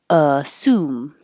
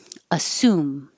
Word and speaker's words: assume: as you me but it's pronounced assume assume with a clear s assume uh this is